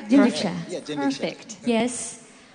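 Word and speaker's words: jinrikisha: Did I pronounce it right? Jinriksha.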